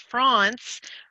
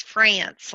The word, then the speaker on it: Frantz: Right, and I've been told by genealogists that it's pronounced France, but the modern day corruption is France, like the country. But I'll take either one.